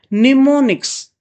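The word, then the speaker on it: mnemonics: These codes are main निमोनिक्स। एम यहां पर silent होता है। निमोनिक्स बोला जाता है।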